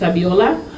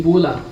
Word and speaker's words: Abiola: on my name is abiola and I often call me because when I first arrived in Australia people find it very difficult to pronounce these five letters abiola they call me ebola even before the Ebola